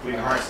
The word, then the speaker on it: Emersus: Hey, Emersus is his name. Emersus. Emersus? Okay. Say it right! You had a T in there, right? Spell no, it's not! E-M-E-R-S-U-S. Emersus. Emersus.